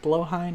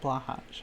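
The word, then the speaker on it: Blåhaj: It's pronounced blowhigh, not blahaj. I know it's not pronounced that.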